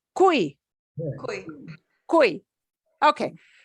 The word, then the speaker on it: cuy: Wow, it's cuy, Cuy. cuy. Okay, so if Y comes at the end, we pronounce it like E.